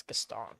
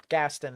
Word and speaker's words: Gaston: I believe that's Gaston, but Gaston is another common way to pronounce that.